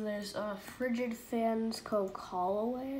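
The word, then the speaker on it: Callaway: Holloway, I think is how you pronounce it.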